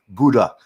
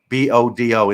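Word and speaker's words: Bodø: I was up in Buda. Bodo in the land of the Midnatsel. I pronounced it wrong.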